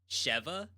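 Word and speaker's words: Sheva: It's pronounced Shiva, not Shiva. Cheva. Cheva from Resident Evil 5.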